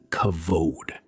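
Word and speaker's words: כבוד: The word is kavod.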